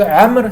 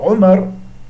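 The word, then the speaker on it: عمرو: Moi c'est Amr, c'est pas Omar. Et dans les cas pas de waw, il dit, bah, tu vois, il n'y a pas de waw, donc moi tu sais que il faut prononcer Omar et non pas Amr. Le waw, ça seulement sert à ça.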